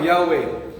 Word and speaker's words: Yahweh: Yahweh. Ang tamang pronunciation ng pangalan ng Yahweh is para kang huminga, inhale at exhale.